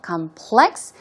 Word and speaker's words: complex: also be complex okay the stress goes on the second syllable complex in that case it